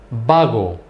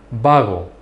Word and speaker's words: vago: Vago, vago, lazy. In Spanish, the B, the V's and the B's are pronounced the same.